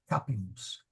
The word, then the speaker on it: capimus: Capimus, audimus. And in fact, that's important because capimus, the accent is on the ka. That's not long, that's not long. So we go to the third syllable, capimus.